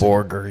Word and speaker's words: Borger: think it was real I thought maybe my grandma was mispronouncing Burger Texas and I didn't think that that was real and it isn't but Borger is a real place Borger yeah I've heard of